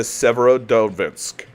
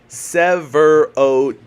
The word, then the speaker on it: Severodvinsk: to look at the Severodonetsk. Am I pronouncing that correctly? Severodvinsk. Severodvinsk.